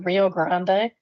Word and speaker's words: Rio Grande: Next, we have a one uh star review for the Rio Grande. And yes, I do pronounce it the Spanish way.